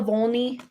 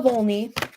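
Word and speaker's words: Wolny: feminine and then Ola Volny, it's a W, but it's pronounced with a V. Ola Volny.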